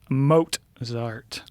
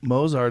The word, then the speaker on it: Mozart: goes uh hold up he goes it's moat zarth yeah you're right sorry mozart is how i would say it did you say mozart